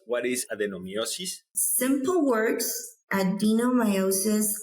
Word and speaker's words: adenomyosis: And we're going to talk about an issue that's called adenomiosis. Did I pronounce it correctly, doctor?